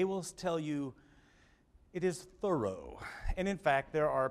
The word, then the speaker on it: Thoreau: this author they will tell you it is Thoreau and in fact there are people from his